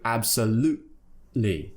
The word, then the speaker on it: absolutely: absolutely or absolutely but make sure if you are dropping the T that you don't just say absolutely because no no no that sounds wrong you have to create a sound in your throat which replaces the T